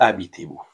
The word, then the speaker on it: habitez: تلفظ کیږي دلته او habitez-vous تاسو متوجه شئ چې اش چې دی په فرانسوي کې بې صدا حرف دی سایلنس دی نو دا تاسو نه تلفظ کوي تاسو نه وایئ چې